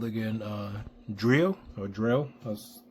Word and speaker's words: Dreo: This is a portable heater by, I forgot what they're called again, Dreo, or Dreo, as it's pronounced.